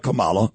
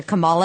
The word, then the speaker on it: Kamala: Why don't you tell the people what you said about Kamala on Instagram? Well, it's funny because I called her Kamala and people yelled at me. It's Kamala. Apparently rhymes with Mamala.